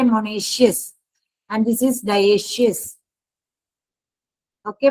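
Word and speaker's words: monoecious: हो तो उसे कहते हैं मोनेशियस प्लांट इसको प्रोनाउंस करते हैं मोनेशियस and this is डशियस okay बच्चे बहुत सारे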